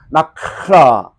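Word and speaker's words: נחלה: 히브리어는 특히 키역과 하 사이에이 마차음이 발음을 잘해야이 단어 표현이 아주 잘 됩니다. 한번 따라해 보실까요? 나크라.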